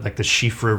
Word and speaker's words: Siofra: they had things like the Shifra River, spelled like Siofra.